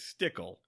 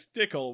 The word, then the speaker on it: Stickle: George's last name is Stickle oh my George's last name is Stickle which rhymes with pickle and that's funny I